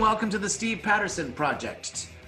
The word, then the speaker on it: Projecttt: to the Steve Patterson project the third T is silent and I'm Steve Patterson